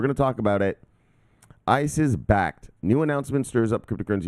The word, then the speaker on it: Bakkt: they will be launching backed it's pronounced backed an exchange platform for